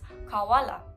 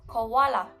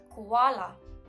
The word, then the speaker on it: koala: Most of the people, including news reporters, often mispronounce this word as kawala. This is a wrong pronunciation because the right one is koala, koala, not kawala. The second vowel of this word should be stressed on instead of the first one.